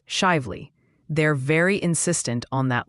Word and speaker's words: Shively: And hey, while we're on Kentucky, after mastering a dare, your new pronunciation challenge is shively. It's shively.